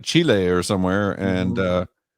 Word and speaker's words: Chile: or somewhere and uh that way Chile because that's how they say it I try to respect the native peoples and the way they pronounce like I would pronounce your name if you had an unusual name I would pronounce your name the way you would like to have it pronounced so well you know what it's it's a country Chile is what it's called Chile no Chile Chile that's